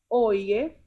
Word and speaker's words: oye: Oye literally is spelled like how we would say oi in Right. English. O-Y-E. It's Right. pronounced as oye, which means hey.